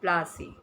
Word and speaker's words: Plassey: the famous Battle of Plassey. Now, before coming to the Battle of Plassey, children, let's understand the meaning of the term. Like, what you know about that? Plassey, it's an anglicized pronunciation of Palashi, and the place derived